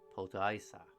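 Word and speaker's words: Potaissa: Potaisa.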